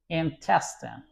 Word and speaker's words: intestine: Next word is intestine. Intestine as you can see test as the uh is stressed stronger than other parts when you want to accentuate that word.